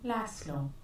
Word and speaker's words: Laszlo: So a fantastic player, Hungarian player, uh, Zabo, the pronunciation, Zabo Lasslo.